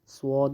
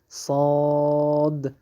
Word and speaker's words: صاد: صاد بعضی خلک داسې وایي چې سواد یو واو سره ټولوي په شندو باندې، هغه بالکل غلط دی. دقیق تلفظ صاد او د حرف د مد